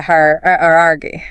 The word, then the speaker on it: hierarchy: But the correct pronunciation is her. That is a hierarchy.